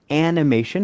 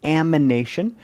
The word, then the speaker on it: amination: Now notice this is reductive amination, not animation. It's going to be difficult to say and I guarantee you're going to say it wrong at least once, but it's not animation. It's amination.